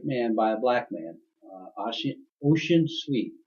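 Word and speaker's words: Ossian Sweet: by a black man, Ocean Sweet. It's Ossian, but it's pronounced Ocean Sweet.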